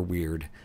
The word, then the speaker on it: wyrd: the history of the word weird uh which can also be pronounced word it's an old english word and and the pronunciation can go either way so that's that's nice